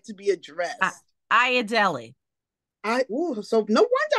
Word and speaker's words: Ayodele: or how would you like to be addressed aad Deli I oh so no wonder I don't remember that name can you spell that a y o d l e a